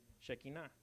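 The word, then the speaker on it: שכינה: Shekinah.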